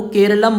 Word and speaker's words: Keralam: उसमें केरला है, जबकि हमारी भाषा में केरला को केरलम बोला जाता है और केरलम शब्द का इंग्लिश प्रोनाउंसिएशन केरला है।